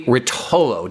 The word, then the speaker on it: Rotollo: We have Jeremy Rotollo. Did I pronounce that right?